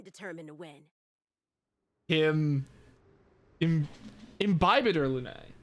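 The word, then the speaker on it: Imbibitor Lunae: to win him in imbibator lunae that's how it's pronounced that makes a bit more sense than inhibitor in Bible gotcha now I know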